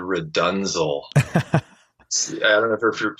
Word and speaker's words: RDNZL: And he had me learn for the first one this Frank Zappa tune called Redunzel.